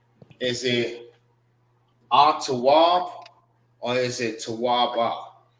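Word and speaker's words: tawab: This is t and this is w. This is pronounced together and this is pronounced by itself. TW.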